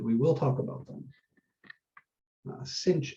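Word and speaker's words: sinh: will talk about them cinch and kosh usually is how they're pronounced but we'll get there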